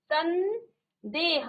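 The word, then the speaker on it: संदेह: सम धन देह तो यहां म का न हो जाता है तो देखो म का न हो जाता है सन देह आधा न का उच्चारण आ रहा है ठीक है धनि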